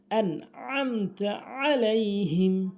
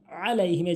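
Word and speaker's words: عليهم: আইন এখানে একটি আইন রয়েছে উচ্চারণ হবে এরকম আলাইহিম এভাবে উচ্চারণ হবে দত একটু টানবেন আলাইহিম আইন রয়েছে অর্থাৎ মোট কথা হচ্ছে সূরা ফাতেহা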